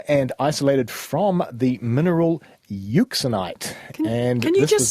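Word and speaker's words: euxenite: originally detected in and isolated from the mineral uxinite and can you just spell that for me please yeah I can try EU x e n i t e uxinite of course thank you this was discovered by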